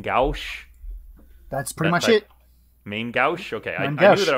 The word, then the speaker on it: main gauche: because i don't actually know how to properly pronounce it's a a french word um which is main gauche that's pretty much it main gauche okay i knew that i was close on